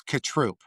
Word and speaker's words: Cotrupe: It's Katrroop.